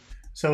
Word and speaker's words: sot: listen and imitate these contrasts I'm going to try this before he says it so the first one is c-l-o-s that should be